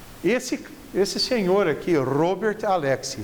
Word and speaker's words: Alexy: esse senhor aqui robert alexy vocês vão me pronunciar robert alexy porque não é ele não é alexcina ouviu né francês ele é alemão se chama robert alexy